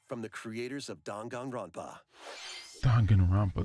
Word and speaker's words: Danganronpa: Danganronpa, that's how you pronounce it.